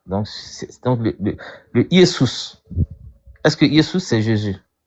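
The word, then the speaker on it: Ἰησοῦς: Donc entre Yesus et puis Jésus, quel est le nom que l'ange a donné ? Yesous en grec.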